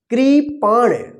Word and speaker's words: कृपाण: की मात्रा क्री पाण पाण यानी अण पाण इस तरह से अगर उच्चारण होता है क्री पाण अण का तो यहां पे आप अण लिखिए ठीक है ना ये